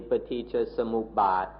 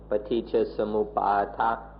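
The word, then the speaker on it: paṭiccasamuppāda: In Thai, we call this simply paticca samuppat, or in Pali, paticca samuppata. In Thai, we don't feel it necessary to translate this word.We just take the original paticca samuppada and pronounce it in an easy Thai way.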